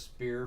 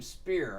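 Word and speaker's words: Speier: um Chris Spire thanks Jerry ball I called him Chris Speer for decades and then started playing the 79 extended uh playoffs six six and a half years ago and Jerry Falls like you say his name spear I was like I actually never knew that so thank you Jerry ball I call him Chris Speer now you should be proud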